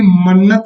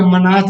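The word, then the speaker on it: manat: और तुर्कमेनिस्तान की capital Ashgabat हो जाएगा, इसकी मन्नत या मनात इसको पढ़ते हैं, करेंसी हो जाएगी।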